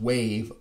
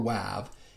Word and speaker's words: WAV: recording production and editing the waveform audio file format pronounced wav or wav is an uncompressed format